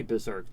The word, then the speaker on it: Berserk: saying berserk in general it sounds like a z in the normal pronunciation of Berserk it's because of the e s the r e the RSE pairing up like that look at me